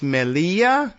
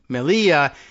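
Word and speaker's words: Melilla: Whereas they're exclaves to the Spanish, but Seut and I guess it's Melia. It's me E L I L L A. And you know how the Spanish pronunciation of the double L's. Melia is like 200 and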